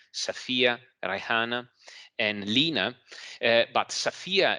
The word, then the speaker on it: Safia: For instance, they decided to name their fourth daughter Aisha, Safia, Rayhana, and Lina, but Safia is she specified is written S-A-F-I-A. So as it is pronounced.